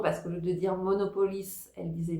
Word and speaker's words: Monopolis: Apparemment, le seul truc c'était la prononciation sur le nom parce qu'au lieu de dire Monopolis, elle disait Monopolie et je ne sais pas pourquoi elle est restée là-dessus mais c'était vraiment pas mal.